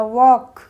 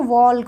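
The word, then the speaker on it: walk: third rule है इसका के से पहले एल होगा तो इसमें एल साइलेंट रहेगा वॉक वॉक बोलते हैं ना कि इसको वलक वलक तो नहीं बोलते इसको वॉक बोलते हैं टॉक ना कि टॉक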